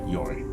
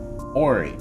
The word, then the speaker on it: Yori: Because you said the name wrong. As you say Ori, Glue will walk up to you, rearing his foot back and slams a kick between your legs, which surprisingly actually stuns you and makes you topple over onto the ground before he calmly walks back, takes Yori's hand again, and goes, "You said his name wrong."